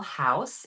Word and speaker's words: Haus: It's called Sustainable Haus. It's spelled Haus, the German way.